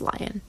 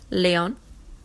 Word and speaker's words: Lyon: I'm sure that's not pronounced Lion. You can ask your sister. Lyon. Lyon.